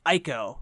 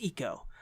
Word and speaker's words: Ico: And it's a reason why I love Ico, which I know is pronounced Eco, but I still say Ico.